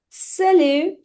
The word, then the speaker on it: salut: Salut, salut, salut. T is silent. Il ne prononce pas. We don't pronounce it.